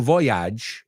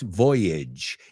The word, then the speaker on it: voyage: And Fijaos, no digo voyage, it's voyage. It rhymes with bridge, language, voyage, right?